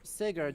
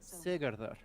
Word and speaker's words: Sigurður: Odin, which means that they are using the Icelandic pronunciation, in which case Sigurd should actually be Sigurður.